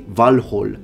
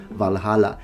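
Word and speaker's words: Valhǫll: factors first of all they are using actual Old Norse pronunciation and words when they say Orin when they say valh instead of valhala and I really appreciate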